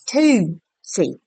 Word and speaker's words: Tootsie: So it's Tootsie. Toot with T-O-O-T, like Tootsie.